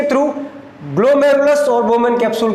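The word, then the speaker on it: glomerulus: इसका प्रोनाउंसिएशन सही तरीके से बनना ग्लोमेरुलस।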